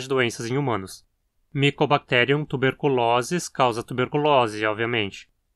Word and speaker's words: tuberculosis: Aqui o O na penúltima sílaba é longo. Sempre que você encontrar a terminação osis se referindo a doenças, o O vai ser longo e a palavra paroxítona.